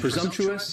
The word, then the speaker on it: presumptuous: next is presumptuous and presumptuous has four syllables and the next is presumptuous presumptuous as Force enables and a stressor on the second syllable stresses on that second syllable and the S almost sounds a little more like a z presumptuous presumptuous and if